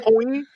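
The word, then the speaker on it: Coyne: Coin. Yeah, coin. Like a coin. It's spelled not like coin, but it sounds like, and his twin sister, apparently, Fiona, as well as Jenna Middleton.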